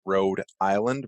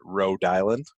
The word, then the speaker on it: Rhode Island: that we say it it's not like Rhode Island we kind of pronounce it Rhode Island it's like one one word together kind of like how